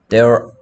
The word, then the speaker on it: there: There are 발음은 there are. They are가 아니야. 자, 지금 서현이 발음이 얘 발음하는 것처럼 들려. 이건 they고요. 여기에서 뭐뭐가 있다 할 때는 there야, there.